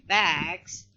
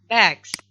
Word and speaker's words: bags: But in the pronunciation, sound s will be pronounced as z. Okay, so we do not say bags, but we say bags.